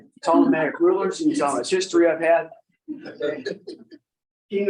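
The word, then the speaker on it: Ptolemaic: you say that word problematic rulers I said it wrong last night six times and she finally told me that is wrong telematic rulers history I've had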